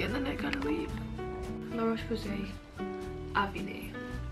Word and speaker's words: La Roche-Posay: La Roche-Posay, Avine. It rhymes, it's all French.